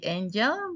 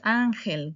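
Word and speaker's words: Ángel: Similar to the name in English, but also very common name in Spanish. Ok. I hope you didn't say angel because if you did that means that you didn't pay attention to me. So it's angel correct.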